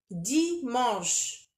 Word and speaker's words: dimanche: Dimanche. On ne peut pas prononcer le N. On ne peut pas dire dimanche. Dimanche. Non, c'est faux.